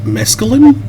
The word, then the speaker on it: mescaline: Mescaline?